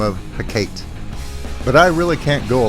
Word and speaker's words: Hecate: Shakespeare referred to this Greek goddess as Hecate. But I'm going to follow Fozzie's lead on this, and I am going with the classical pronunciation, which is Hecate.